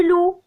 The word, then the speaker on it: loup: Le loup, on ne prononce pas le P.